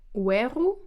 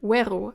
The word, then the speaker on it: oeru: What you maybe already heard is that the first word weru I say as weru, as two syllables and not as oeru. This happens always as soon as you have something behind the oe. So oe and on its own is pronounced as two syllables, oe, but as soon as you put something behind it, you have the oe becoming we. So oe, but weru.